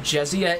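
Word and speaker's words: Jessiah: explicitly in game but jessia is meant to be a portmanteau of his name jesse and the word messiah okay i considered pronouncing it josiah but jessia sounds a bit more organic she says thank you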